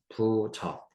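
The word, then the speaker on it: 不著: 볼게요 맹자가 말하죠 행하지만 부적 불 저 부자죠 앞에 있는 불이 부로 발음 되는데요 저라고 하는 것은 드러나다는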